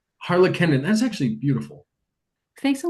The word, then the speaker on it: Harlakenden: Harla Kendon. Harla Kendon.